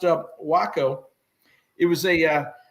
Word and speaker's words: Waco: American glider forces and it is pronounced wacko for the Weaver Aircraft company that made it I live in Texas folks want to say Waco most folks do but it's actually pronounced uh wacko it was a uh